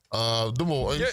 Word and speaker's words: Des Moines: No, it's not an S on there is an S on the end, but it's just Des Moines.